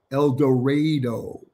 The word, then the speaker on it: El Dorado: And thank you, Peggy, for telling me the correct pronunciation. El Dorado.